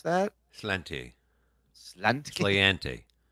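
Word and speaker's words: sláinte: How you pronounce that? Slanty.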